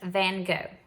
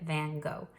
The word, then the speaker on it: van Gogh: Vincent van Gogh that's how we would say here in America